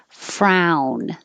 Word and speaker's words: frown: kept that spelling choir frown this is like down frown turn that frown